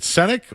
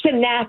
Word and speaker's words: Sak: And is it is it Senk or Sak? Chris is it Chris Senk? Is that how you say it? It's Sak.